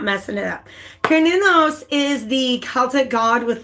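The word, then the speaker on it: Cernunnos: I even looked up how to pronounce it properly so I'm not messing it up. Kernunos is the Celtic god with like the antlers, right?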